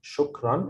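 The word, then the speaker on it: شكرا: fat so shook run this means that it's pronounced like this means thank you okay so why i pronounce it shook run it's because of these two lines um of course this is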